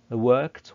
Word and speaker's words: worked: And by the way, pay attention to the pronunciation of ed. عايزك يعني طبعا احنا هنضيف ل work هنضيف لها ed عشان نكون اللي هو الماضي the past, لكن عايزك تهتم بنطق ال ed لان في حالة work ال ed بتطلع ت, so we say worked.